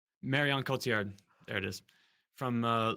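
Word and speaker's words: Marion Cotillard: the the real winner I I I can't pronounce her name Marian Kotiard Marian Kotiard there it is from uh Leon Rose which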